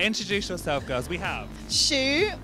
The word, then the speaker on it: Shu: Shu, like the shoe you wear on your feet. That's how you pronounce it.